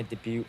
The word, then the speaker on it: debut: My debut photo. Debut. Debut photo. What does that title song sound like? T is silent.